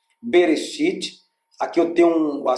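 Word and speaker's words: בראשית: Aqui eu tenho um B, Re, o Aleph é mudo.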